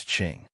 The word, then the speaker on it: Qing: Also Q is pronounced like ch, so Qing in Yi Qing Han is Qing. Once again, it's not written as ch because ch is a different pronunciation, e.g. like in Qi Xian.